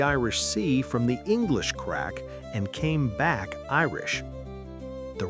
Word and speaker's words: craic: The word is crack, pronounced crack.